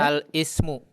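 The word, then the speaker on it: الاسم: Al-ismu. Al-ismu. Yakin Al-is. begitu bacanya? Al-ismu. Ini hamzah wasal di tengah. Bagaimana bacanya? Al-ismu. Al-ismu. La, jangan al. Alismu. Alismu. Alismu.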